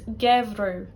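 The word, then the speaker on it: geimhreadh: Then let's look at ADH, which is much the same. We're going to look at 2 seasons to show you how this is pronounced. We're going to look at winter, which is gevru, gevru. Summer, sauru, sauru. AMH or ADH in Ulster is oo.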